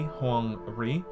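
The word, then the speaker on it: Huang Rui: Now, this post is by AMD's Ray Huang Ri. Hopefully I'm pronouncing that correctly.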